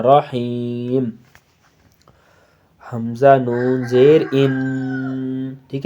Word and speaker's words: رحیم: بسم اللہ الرحمن الرحیم۔ رحیم نہیں کرنا ہے، رحیم۔ حمزہ نون زیر ان،